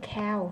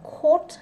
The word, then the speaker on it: caught: nha, catch và caught, ai đọc hồi đó giờ đọc cái này cow thì bây giờ bỏ nha, caught thấy không, caught thấy chưa, anh nó còn đọc là court nữa cơ đúng không, anh Mỹ là court thôi, mình thấy code là đủ mệt rồi vậy nha.